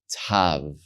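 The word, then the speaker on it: ת: dot a different way with the dot is going to be the harder sound without the dot it's going to be the softer sound historically right so you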